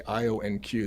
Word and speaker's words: IonQ: It's funny when you say IONQ. It's the way you were having a hard time typing it and having a hard time saying it correctly. Yeah, Let's yeah, change yeah, that ticker. Ion Q. It's easier when you call it that, right?